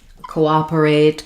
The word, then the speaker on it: cooperate: So the stress is on the op syllable just like in the word operate.